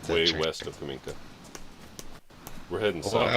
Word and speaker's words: Kamenka: We're way west of Kaminka. Kaminka's way east. So Kamenka's north of... I'm just pronouncing it wrong? No, it's Kaminka, and then you got Kaminsk.